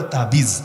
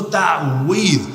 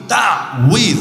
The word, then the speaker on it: তাওয়ীজ: তো মূল তাওয়ীজ বলতে বাংলায় বলে তাবিজ, কিন্তু মূল উচ্চারণ হলো তাওয়ীজ। তাওয়ীজ আইন সহকারে, একটু জটিল উচ্চারণ, তাওয়ীজ।